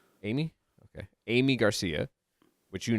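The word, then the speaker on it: Aimee: Aim. I A I A A I M E. How you say that? Amy. Amy.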